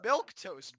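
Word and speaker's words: milquetoast: how you say it how do you say that milk toast and it's none of us what about it it means to be timid or unassertive it's milk toast bro it's milky toast because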